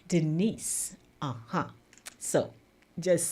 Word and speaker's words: Denise: and by the way some people when they're pronouncing my name they say Denise but my name doesn't have a z in it it's spelled D n i s e Denise uhhuh so just saying